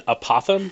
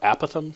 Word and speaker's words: apothem: of this polygon in apothem or a Pithom depending on how you choose to pronounce it is the distance from